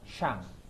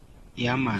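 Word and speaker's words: 山: Kanji gunung itu di Cina dibacanya Shang. Ketika kanji syang yang artinya gunung itu masuk ke Jepang, kanji gunung itu dibacanya yama. Sang. Nah, bahasa Jepangnya yama.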